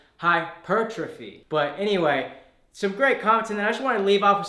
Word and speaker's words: hypertrophy: said great videos but put the emphasis on the second syllable for hypertrophy I in the video I was saying hypertrophy mirror brother are both